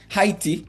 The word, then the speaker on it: Haiti: Um so, shout out to Haitians and um and Haiti Heiy as some people would pronounce it.